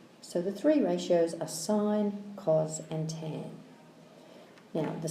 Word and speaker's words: sine: It's short for sine, like that, but it's pronounced sine, even though there's no E.